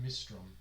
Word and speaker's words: Mistrom: Mistrom. How would you spell that? Mist Drum. Rom. Mr. Mist like misty and rom like rom-com.